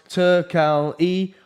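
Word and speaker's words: Turkalj: doesn't know Anton uh tackles pronounced turkal e okay took alley uh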